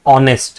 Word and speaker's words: honest: H is not a vowel. But see when you pronounce this word it says honest right?